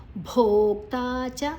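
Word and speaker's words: ಭೋಕ್ತಾ ಚ: ಇದೆ ಪ ಭದ ಅರ್ಧಮ ಭೋಕ್ತಾಚ ಭೋ ದೀರ್ಘ ಕ ಮತ್ತೆ ತಾ ದೀರ್ಘ ಚಪ್ರ ಪ್ರಭುರೇ ಚದ ಜೊತೆ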